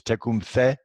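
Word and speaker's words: Tecumseh: little quick quote from Tacoma say he's actually the proper way to pronounce it is check whom say and he was Shani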